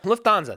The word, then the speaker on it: Lufthansa: Lufthansa, thank you.